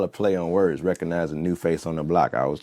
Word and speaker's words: NuFace: like a play on words but I am newface is how you spell it n u f a c and the